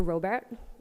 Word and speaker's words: Robert: Now on to Robert. I'm in the habit of pronouncing it the German way.